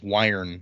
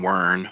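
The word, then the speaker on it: Wyrn: i have orders from rin himself or wire however you want to say that i say written yeah i've been saying worn but i don't know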